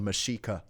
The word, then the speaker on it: Mexica: name Mexico comes from Mexico just means the place where the meshika live M it's spelled like Mexico with a oh man now